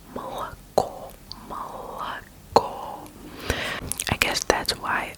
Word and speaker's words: молоко: In Russian, you pronounce O as an O, only when it's stressed. So молоко, the last syllable is stressed. So you say молоко, молоко, молоко.